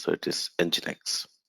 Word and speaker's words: nginx: many people call it enjinx many people call it ingenix engines whatever but that's not correct pronunciation it should be called as however you call engine and then x so it is nginx right okay so we